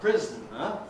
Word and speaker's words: prisoner: So someone in prison is basically a prisoner, 3 syllables, prisoner. If you like, prisoner, giving you syllabic consonant prisoner.